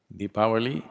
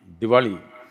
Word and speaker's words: Deepavali: language is like that in northern india most people speak hindi language and the last syllable they'll cut it off if you say the anna lingam they'll say the analing if you say shiva there's a shift if you say rama there's a ram the language has the habit of cutting off the last syllable always almost everything krishna krishna deepavali